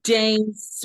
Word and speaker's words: Dace: friend sure hello hi my name is James rhymes with face this is eggnog hi